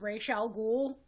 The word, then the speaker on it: Ra's al Ghul: He voiced, I know there is a big debate on how to pronounce this, but I will always pronounce it as Ra's al Ghul in Batman and Superman, the Justice League, DC animated universe.